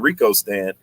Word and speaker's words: Rikostan: comes up there so i've always been saying rico stan and they were like yeah that's right and then yeah i